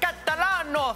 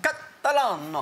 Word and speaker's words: Catalano: up, our carryover champs from South Australia, the Catalano family. Did I say it right? You're spot on. It felt good when I said it. It was really just fun rolls to off say. The tongue. Catalano.